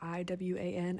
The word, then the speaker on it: Iwan: I think it's Ewan because it's spelled with an I, like I-W-A-N, and I know that E-W-A-N is pronounced Ewan, like Ewan McGregor from Star Wars, but I think it's Iwan.